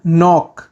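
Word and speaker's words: knock: खाना वाओ वाओ खटखटाना नॉक नॉक नॉक में जो के होता है वह साइलेंट होता है बेहोश होना फेंट फेंट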